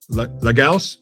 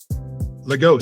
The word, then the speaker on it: Lagos: Now, you founded the Hold on, I'm going to say it right. Legals. No, God damn it. Now I'm in my head about it. Legos. It's Legos.